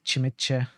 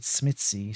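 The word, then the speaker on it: Tzimisce: as well smitsy so everyone pronounces this different i don't know if you ever checked it some pronounce it with chi sounds like chimicha chimichi some say smith i think the creator of the clan and also jason carl both pronounce it smitsy so that is the one i adapted from time immemorial that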